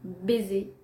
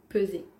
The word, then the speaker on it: peser: a la balance pour baiser au lieu de peser donc là le problème n'est pas sur le CE ou le the le problème est sur le P ou le B baiser peser une erreur